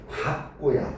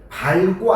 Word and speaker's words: 밝고: 요거 어떻게 쓰느냐? 어떻게 읽느냐? 받고야. 받고. 밝고 아니야. 받고야.